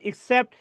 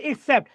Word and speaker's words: একসেপ্ট: এদের যেটা কবুল করেন, কবুল বা গ্রহণ করা, কবুল বা গ্রহণ করা, সেটা হচ্ছে আপনার একসেপ্ট, এটা উচ্চারণটা হবে ই কে, একসেপ্ট। আর যেটা ব্যতীত, ইসিপিটি, এটা মানে হচ্ছে ব্যতীত।